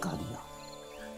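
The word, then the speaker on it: قاضی: समझ चुके हा कि अरबी दे विच अखर जवाद जो अते जे द उच्चारण ददा नाल हो है लज कागज न कागज बोलते हैं नजर न नजर हजूर न हजूर इस तरह ही काजी द उच्चारण भी कादी है इस तरह कादिया का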